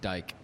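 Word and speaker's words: Dijk: Uh, Virgil Van Dyke. That's it. Yeah. Our viewers don't get to see to see how it's written. Yeah. It doesn't look like that. It's D I J K.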